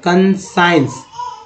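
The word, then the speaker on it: conscience: का उच्चारण करते हैं, तो ये कंसाइंस, ई एन सी को एंस बोलते हैं ऐसे, तो कंसाइंस, एस, एस आई हो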